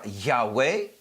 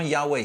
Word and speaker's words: Yahweh: Donc, parfois, on rajoute un A et un E pour ainsi faire Yahweh, ou peut-être on va rajouter un E au